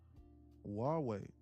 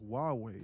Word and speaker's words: Huawei: Huawei. I think it's pronounced Huawei.